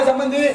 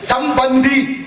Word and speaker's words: சம்பந்தி: அவரும் சாப்பிட்டு போறாரு ஆமா சம்மந்திங்கிற வார்த்தை உச்சரிப்பு தப்பு எப்படி சொல்லணும் அப்படி சொல்லக்கூடாது சம்னா நல்ல மந்தினா குரங்கு வாங்க குரங்குங்கிறான் அவரும் ஆமா குரங்குன்னு சோறு அப்படியா போறது தம்பி புரிஞ்சுது சிரித்தியா சம்பந்தி அப்படின்னு சொல்லணும் சம்னா நல்ல பந்தம்னா உறவு வாங்க நல்ல உறவேன்னு கூப்பிடணும் நீங்க